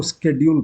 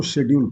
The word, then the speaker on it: schedule: और इसको दो तरीके से बोलते हैं। अमेरिकन इसको स्केड्यूल पढ़ते हैं और ब्रिटिशर्स इसको शेड्यूल पढ़ते हैं।